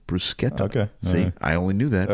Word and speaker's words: bruschetta: Isn't it bruschetta? Oh, see one example CNN gave was that pronouncing brusqueta as bruschetta, not brusqueta, might cost Italians. It's actually brusqueta.